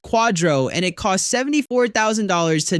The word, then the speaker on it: QDRO: The QDRO is pronounced quadro and it costs $74,000 to not know that.